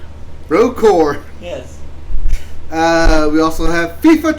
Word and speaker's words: Rogue Corps: We also have Contra, Rogue Corpse for PlayStation, Xbox, Switch, and PC. Rogue Core. Corpse. Core. Corpse. There's a P. Yeah, you don't pronounce it. Rogue Core.